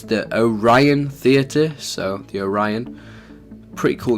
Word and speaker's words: Orion: we shall start if you don't know how pronounce it is the it's the Orion theater so the Orion pretty cool name chevas chose it awesome so